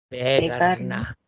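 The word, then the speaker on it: vägarna: Y para decir los caminos, Vegarna. Vocal larga, Vegarna.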